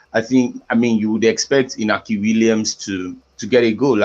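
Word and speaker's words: Iñaki: Inaki Williams. Inaki Williams. Because The N is actually pronounced as Y. Inyaki.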